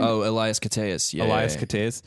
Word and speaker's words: Elias Koteas: Oh, Elias Koteas.